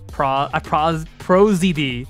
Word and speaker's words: Prozd: Prozd. I call him Prosdy. Pro and then DD are pronounced the letters.